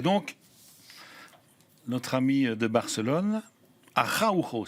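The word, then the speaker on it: Araújo: Et donc, notre ami de Barcelone, Araujo, c'est comme ça qu'on prononce. Araujo. Parce qu'on a deux spécialistes ici.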